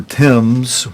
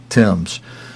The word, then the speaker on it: Thames: Friends, I don't know why our brother Ephraim pronounces what it always sounds like to me, the River Thames. When it's spelled T-H-A-M-E-S, to me it sounds like that